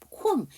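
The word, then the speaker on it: comb: 우리 단어의 뜻이 그 BM으로 끝나게 되면 그 MB로 끝나게 되면 그 뒤에 비가 묵음이에요. 그쵸? 밤, 콤.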